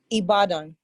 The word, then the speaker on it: Ibadan: where you are is it how do you pronounce the city he bought in its ibadan okay what's going on anybody it's some right